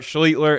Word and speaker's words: Schlichter: it man oh man good old art schler and yes before we go any further that is how you say his name I'm just going to